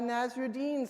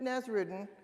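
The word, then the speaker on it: Nasreddin: I have told a couple of Nazarine stories before and in the past I pronounced it Nazruden which turns out to be wrong. It's the wrong way to say it.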